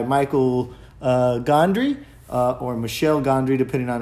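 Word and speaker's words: Michel Gondry: uh gondry uh or michelle gondry depending on how you pronounce it it was starring of course jim could have he's a french guy he's a french guy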